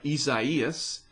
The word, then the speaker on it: Isaias: true we had fey last year followed by isaias finally said it right and then elsa this